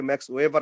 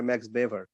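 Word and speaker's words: Max Weber: বেভারের কথা আলোচনা করি ইংরেজিতে অনেকে ম্যাক্স ওয়েভার আলোচনা করে জার্মান উচ্চারণে হয় ম্যাক্স বেভার উনি হচ্ছেন ব্যুরোক্টিক থিওরির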